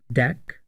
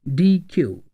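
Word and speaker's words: deque: version of Q is called DQ which is pronounced as deck or DQ it is a collection of emergence data items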